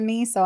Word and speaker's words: Meiwes: look up the name and then have it pronounced to me so I don't even if I'm ever saying [